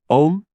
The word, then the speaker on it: Aum: Pronounce the Aum, Om, and say the entire 4-word statement a few times.